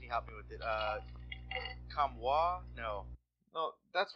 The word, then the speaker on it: Comtois: Yeah, I'm going to pronounce his name wrong. I know I am. Mike, can you help me with it? Comtois? No, that's right. Maxim Comtois. Comtois.